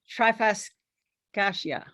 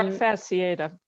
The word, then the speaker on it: trifasciata: Yes, yeah, this is the Sansevieria trifascacia. Excuse my pronunciation. I tried to learn the pronunciations, but I didn't get there in all of the cases. I think it's Um, trifasciata.